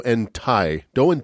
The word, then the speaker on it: Ti: They began to refer to themselves as Do and Ti. Do and T. I had to look up the pronunciation.